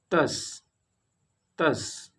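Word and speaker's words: tasse: third, e is mute at the end of polysyllable words। For example, thus thus means cup।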